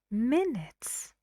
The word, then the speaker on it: minutes: do you think two minutes minutes how many syllables yes two and the stress is on the fast syllable minutes Olympic Olympic how